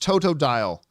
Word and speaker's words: Totodile: more zambia writes uh tutu dial is pronounced totodile totodile okay oh i guess it's supposed to rhyme with crocodile dundee totodile okay i get